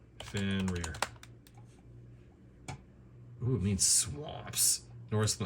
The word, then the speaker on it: Fenrir: go about pronouncing it in british english it is normally said as fenrir fenrir he's normally pronounced as fender okay a little bit